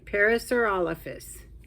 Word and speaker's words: Parasaurolophus: we go I think I said it right parasaur olfus and that's a long name it's a very